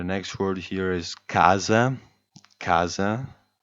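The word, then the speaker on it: casa: word here is Kaza Kaza stress falls on the first a Kaza meaning house you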